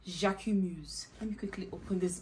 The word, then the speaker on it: Jacquemus: Jac so how do okay so it's called jaim Muse let me quickly open this bag before I forget how to pronounce it again I pronounce something else but